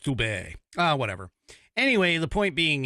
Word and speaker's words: Steube: Well, that immediately got defended publicly by Representative Greg Steube. I think that's how it's pronounced. It's Steube. I don't know, maybe it's French, Steube.